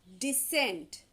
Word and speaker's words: descent: three words first is descent second decent and the third one is descent basically the first and third ones their pronunciations are almost same but the second one is decent okay now look at